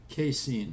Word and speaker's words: casein: So let's move on to another thing we should avoid, and that's called Can you pronounce it? casein.